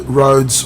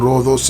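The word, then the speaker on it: Rhodes: the island of Ro roads or Roos as the Greeks pronounce it okay we are going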